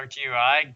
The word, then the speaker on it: GUI: events here, and there is now a draw GUI, draw GUI. It sounds like that should be how this word is pronounced, GUI, but apparently everybody pronounces it that